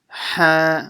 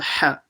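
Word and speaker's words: ح: Ha, and make sure you pronounce the ha from the middle of the throat.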